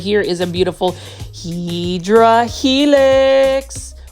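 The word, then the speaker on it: Hedera helix: here is a beautiful heedra helix or what you call the correct way to say it is hideera helix and this one is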